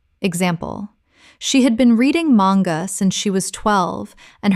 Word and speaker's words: manga: Manga. Common mispronunciation. Man-ga. Correct pronunciation. Mang-ga. Two syllables with the stress on the first. The A is short, not long. Example: She had been reading manga since she was 12,